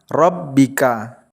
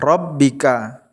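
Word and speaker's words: رَبِّكَ: Contohnya, Rabbika. Saat dibaca wasol, bacaannya Rabbika. Tapi saat dibaca waqaf, menjadi Rabbik.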